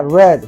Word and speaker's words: read: y el particip pero en el pasado este se pronuncia red como el color rojo red y el participio también